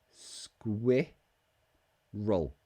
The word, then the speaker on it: squirrel: ooh screwed screwed in the second one the cute little animal that you see in London parks square square roll square roll squirrel so put